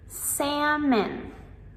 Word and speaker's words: salmon: Salmon. Salmon. Here we have the silent letter L.